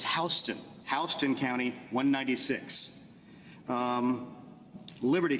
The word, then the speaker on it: Houston: is another fun one it's not Houston in Georgia it's houseon HST County 196 um